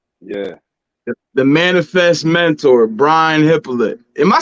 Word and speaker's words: Hyppolite: The last name is the correct way to pronounce it is Hyppolite. But my whole life I've been saying it wrong too, so no pressure. Because here in the American way of saying it is Hyppolite. But the way that we would say it in Haiti is Hyppolite.